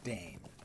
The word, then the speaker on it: Dain: Although the dwarf D-A-I-N is Dane, because that's not an Elvish.